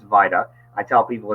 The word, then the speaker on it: VITA: and I tell people and you're correct it's Vita I tell people it's pronounced vital-like vitamin not Vita like Velveeta cheese um Vita is our volunteer